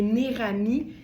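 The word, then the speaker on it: Neirami: ces marques-là, Modula, ça s'écrit comme ça se prononce, et Nerami, c'est N-E-I-R-A-M-I.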